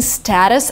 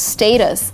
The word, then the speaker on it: status: The next word is also really controversial, and you know, I'm used to saying status all the time, but if you want to be kind of really, really conservative, the actual pronunciation is status.